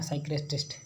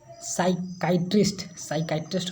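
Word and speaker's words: psychiatrist: साइक्रिस्ट होता है ना, साइक्रेस्टिस्ट इसका प्रोनाउंसिएशन साइकाइट्रिस्ट होता है, साइकाइट्रिस्ट, थोड़ा सा प्रोनाउंसिएशन में मिस्टेक हो गया था, साइकाइट्रिस्ट।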